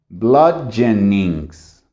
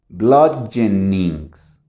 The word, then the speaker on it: bludgeonings: Bludgeonings. ¿Cuántos sonidos hice? Bludgeonings. Entonces se fijan, si lo hago lento, bludgeonings. Solo son 3.